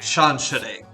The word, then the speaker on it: Chantere: Chantere is how you pronounce that.